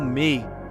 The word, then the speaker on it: me: Para eles havia uma energia chamada mei em sumério, pronunciada como mei, que habitava certas pessoas